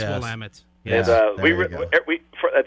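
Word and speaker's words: Willamette: wamit Hops and uh I said that wrong will it's will I said it right that's one of Brian's sensitive points cuz he's from that area I am from Oregon it's full Amit and uh we we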